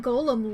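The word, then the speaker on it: GOM: He has to be referred to by the last bit which is of course G O M. Much to his surprise, this ends up being pronounced like golem.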